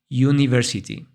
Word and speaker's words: university: Pero al momento de pronunciarla, realmente usamos el sonido de la letra Y y diríamos U, university.